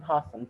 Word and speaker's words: opossum: Monkeys and opossums monkeys and possums, that O is silent.